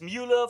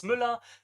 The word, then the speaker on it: Mueller: He says in for English speakers, it's Mueller. For German speakers, it's Müller.